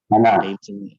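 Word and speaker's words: أنا: Ana. Hasan. Seperti kata ana. Ana. Jadi alif di sini ada secara penulisan tapi tidak kita ucapkan.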